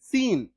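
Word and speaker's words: scene: एस सी का उच्चारण तालव्य स भी होता है। जैसे मैं आपको एग्जांपल देके बता रहा हूं। ये देखो जैसे एस सी इ एन ई सीन।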